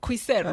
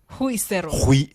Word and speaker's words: Huisero: Calvin Kea from Kuisero. Ama ni Huisero. Umesemaje? Kuisero. No. Huisero. Huisero. That's okay, how you say it.